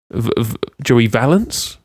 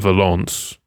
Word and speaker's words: Valence: Joey Valence. He's not French. It's not like Valence.